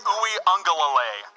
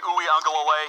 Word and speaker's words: Uiagalelei: I know how to pronounce that guy's name. DJ Uiagalelei. Remember the name. DJ Uiagalelei.